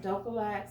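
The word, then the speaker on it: Dulcolax: here and this is just compared to ducolex dough collects that's how you pronounce it the name brand but this is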